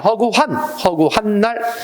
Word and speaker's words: 허구한: 그 다음에 그 사람은 허구한이 아니라 허구한 날. 그래서 많이 그 발음을 잘못해가지고 틀리는 경우가 왕왕 있어요. 허구헌이 아니라 허구한이 맞다는 점.